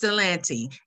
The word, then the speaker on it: Ypsilanti: you're going to be selling real estate in ypsilanti know how to pronounce the name we are very sensitive to what that word means uh it is it's cilanti and um i had this little video on